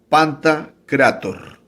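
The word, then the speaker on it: pantokrator: estoy vacilando o engañando es se pronuncia panta creator y dice el significado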